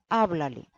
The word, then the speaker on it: háblale: Habla termina por una vocal. Entonces, el tono de la voz apoya naturalmente en la penúltima sílaba. En la forma inicial, habla, que termina por una vocal, diremos habla, sin acento, habla. Y con un acento escrito indicaremos, porque hay un pronombre enclítico, con ese acento escrito indicaremos que la sílaba acentuada se conserva.